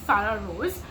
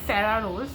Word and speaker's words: Sarah Rose: next we have um sah Rose or other I should say Sarah Rose that's how she pronounces it herself uh again someone who